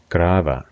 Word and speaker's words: Grave: The V at the end is pronounced as a softer V sound, so much of it V in love, rather than a sharp F sound. Grava, love, Grava.